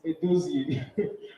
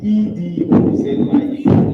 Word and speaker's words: Edozie: So, before I go, it's Edozie. Edozie. E-D-O-Z-I-E. Yes.